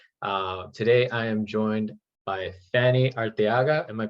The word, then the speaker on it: Fanny Arteaga: Today I am joined by Fanny Arteaga. Am I pronouncing that right?